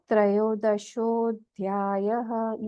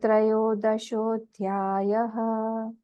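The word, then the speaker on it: त्रयोदशोऽध्यायः: एस का sign है इसको हम बोलते हैं अवग और यह अवग साइलेंट होता है इसको हम प्रोनाउंस नहीं करते हैं हम जब बोलेंगे हम बोलेंगे अथ त्रयो दशो अध्याय ठीक है फर्स्ट वाला श्लोक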